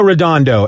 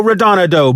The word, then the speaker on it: Redondo: it correct the first time bruto bru bruno redondo and then something in my brain clicks that's